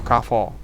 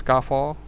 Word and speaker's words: Carrefour: except for Carrefour or Carrefour. Which one, regardless which one you like to pronounce it, whether it's Carrefour, which everybody pronounce it like that, or Carrefour, the intended pronunciation by the founder.